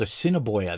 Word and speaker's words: Assiniboia: I lived in a 2-bedroom apartment in a town called Assiniboia that has like 2,000 people, and it cost me $1,100 a month. Fucking crazy. Rent is way too expensive. It's spelled ass in a boya.